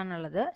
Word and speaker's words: another: So here the answer is option C, and the stress is in the second syllable. Second syllable lana with a stress. Total 3 syllables are another.